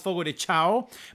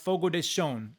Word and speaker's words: Fogo de Chão: Which, by the way, I always thought it was Fogo de Chão, but back when I was on the radio, we had an endorsement and they made it very clear it's pronounced Fogo de Chão.